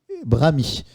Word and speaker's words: brahmi: a 5 minutes avec Johan sont Mirab et Brami. Sachant que Mirab s'écrit M-I-H-R-A-B.